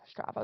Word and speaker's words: Strava: I use Strava yeah Strava is how you pronounce it I think uh the Strava